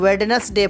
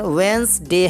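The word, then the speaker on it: Wednesday: ऐश वेंसडे, वेंसडे को बहुत सारे लोग वेडनेसडे पढ़ते हैं जिसकी हिंदी बुधवार होती है, लेकिन एक्चुअली में इसका राइट प्रोनाउंसिएशन वेंसडे है, डी साइलेंट होता है इसमें।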